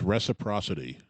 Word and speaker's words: reciprocity: I think we're saying it wrong. It's reciprocity.